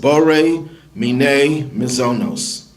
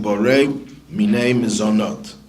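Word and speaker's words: בורא מיני מזונות: And that blessing is the second one on this list, Bore Mine Mizonos. Or if you use the Sephardic pronunciation, Bore Mine Mizonot. But either way is fine.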